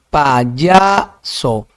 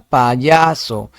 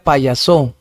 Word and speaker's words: payaso: Payaso, paya, ya. Se detienen ya, entonces ahí sería sílaba tónica, se larga, payaso. Si fuese en so sería payaso, entonces no payaso en ya.